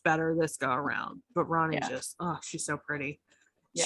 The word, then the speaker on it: Ronnie: And then we have Ronnie. It is pronounced Ronnie, or is it Roni? Ronnie.